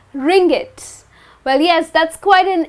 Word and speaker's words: ringgit: In Malaysia, people use the currency called ringgit. Well yes, that's quite an interesting name. Well that's how it's pronounced as ringgit and the ISO code for the currency, ringgit is MYR.